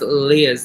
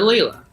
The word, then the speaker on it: Leah: I mispronounced Leah's name. You know, it's Leah, Leah. And I called her Layla.